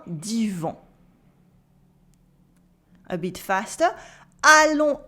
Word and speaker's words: allons: Allons à Coutances voir le jardin d'Yvon. Allons à Coutances voir le jardin d'Yvon. Here in allons we have the on sound, the S is silent in allons.